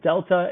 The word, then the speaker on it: delta: Remember, the triangle is a Greek letter. It's pronounced delta, and it just means change. So you'll see that throughout math. The triangle in this sense is you pronounce it delta, and it means change.